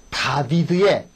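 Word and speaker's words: דוד: 요거하고 요거 아하 그렇다 다비드의 저 발음이 다비드 든요 다비드 그러셔야 돼요 다비드 다비드의 숲 말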